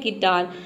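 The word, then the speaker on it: guitar: वह साइलेंट रहता है एग्जांपल देख लेते हैं गिटार गिटार में देखिए यू के बाद आई आया है यहां पे देखिए आई दिया है ना तो इसलिए यहां पे य साइलेंट है गिटार मतलब होता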